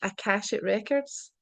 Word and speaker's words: Akashic Records: So obviously you spoke about like I'm going to try and pronounce this Akashic Records.